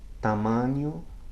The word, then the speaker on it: tamanho: Listen to the words vinho or tamanho, okay? vinho, tamanho. Okay, it's sort of like the ny combination in the English word canyon, or the ni of onion.